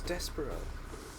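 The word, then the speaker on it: Despereaux: No, it's Despero. It's spelled like Desperox.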